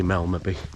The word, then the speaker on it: Melmerby: uh heading up to melmaby fowl I believe the locals say Melody but if you've got to drop the second m I'll just say Mel Maybe anyway we've just set